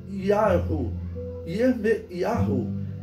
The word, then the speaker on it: Yirmeyahu: O nome do profeta Jeremias, seu nome em hebraico era Yirmeyahu, né, que se pronuncia porque o Y, ele foi substituído na história por um som de J, por isso Jeremias, por